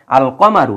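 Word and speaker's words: القمر: কিছু কিছু হরফ আছে যাদের পূর্বে আলিফ লাম আসলে আলিফ লাম উচ্চারিত হয় যেমন আল কমারু এই যে দেখেন কমারু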